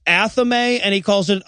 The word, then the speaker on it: athame: that the wiccans use which is pronounced correctly pronounced athame and he calls it anathemi and i'm like you know everybody mispronounces that